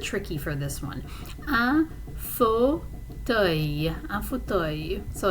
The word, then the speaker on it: fauteuil: Let's see, un fauteuil. The pronunciation is a little bit tricky for this one. Un fauteuil.